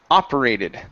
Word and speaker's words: operated: one is the word operated the stress is at the very beginning okay so this is operated operated okay give me a